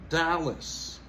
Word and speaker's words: Dallas: plutôt las vegas Dallas monter ce première syllabas Dallas Orlando Orlando Orlando monte sur de syllabe.